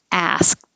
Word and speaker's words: asked: Asked. This is such a weird word because you don't hear the K and you don't hear the ED sounds like T.